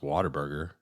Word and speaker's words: Whataburger: 14 is Whataburger. Now Whataburger, OG, you've had a Whataburger since you moved to the South, haven't you? Yeah, but it's pronounced Waterburger. What? It's not what a burger.